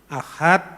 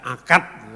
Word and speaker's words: Ahad: dari bahasa Arab mungkin karena orang Jawa tidak bisa ngomong huruf H ya huruf H itu dia bacakan Ahad dibaca akad menentukan proses apa namanya